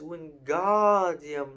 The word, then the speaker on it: Wingardium: It's Wingardium Leviosa. Make the gar nice and long.